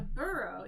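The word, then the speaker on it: borough: 32 Burrows um a burrow yeah a burrow is just basically sort of a district or a section of the city a pronunciation I know it's like one of those OU GH words so in this case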